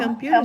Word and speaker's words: computer: Professors and students can perform a computer search to find a library. Can perform a computer search. Computer. Put stress on that second syllable.